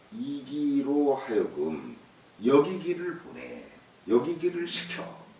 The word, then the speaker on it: 食其: 한왕이 문 이기 한왕이 문 이기 이기예요. 예, 이게 예, 식은 사람 이름으로 쓸 때 이로 발음한다고 그랬어요. 문 이기 의 대장 수야